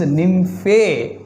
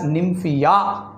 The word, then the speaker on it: Nymphaea: example for superficial placentation superficial placentation example is nymphae nymphae we can pronounce it even as nymphaea nymphia or nymphae its common name is